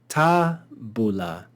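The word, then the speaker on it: tabula: accent the penalt conclude here we see we see that the penult is short therefore this would be read with an accent on the ante penalt ta Bula ta Bula and then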